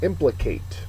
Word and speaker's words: implicate: antonym extinct next one implicate implicates a verb first syllables accented means to involve in